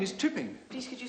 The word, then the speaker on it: Chipping: And my name is Chipping. Please, could you spell it? Yes. Oh, chipping, sir. I thought you said shipping. Chipping, as in chips.